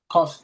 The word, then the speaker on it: Kofsky: Kofsky?